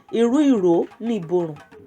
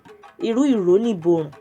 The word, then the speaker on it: Irú Ìró Ni Ìborùn: Iru iro ni iborun. Iru iro ni iborun. Let's say it like that. There might be a scenario and someone would say, Iru iro ni iborun.